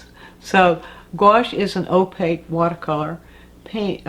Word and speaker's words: gouache: u c h e pronounced like goash so gouache is an opaque watercolor